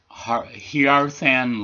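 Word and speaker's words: Hearthan: This was released in December of 1975 on David Thomas's own Hierthan label, is the way it's pronounced.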